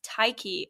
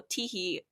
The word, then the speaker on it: Tyche: Okay, so I'm gonna say this in the English pronunciation, but I know Greek people out there are gonna kill me for this. But I research the Greek goddess Tyche or Tyche.